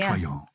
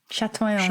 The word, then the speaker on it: chatoyant: It's in the dictionary, Chatoyant. Chatoyant.